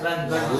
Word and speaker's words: lunch: It is pronounced as launch. Launch. And this is pronounced as Lunch. lunch. Lunch. This is lunch.